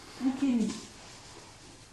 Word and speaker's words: ukemi: C'est le mot qui veut dire chute, ukemi. Alors, ça s'écrit avec un U, mais en japonais, on dit U.